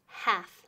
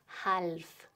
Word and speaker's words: half: pero repito otra vez half Lolly's muda nunca decimos halv muy mal halv muy mal half